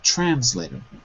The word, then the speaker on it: translator: run children translator translator so the stress is trans first syllable translator try answer later okay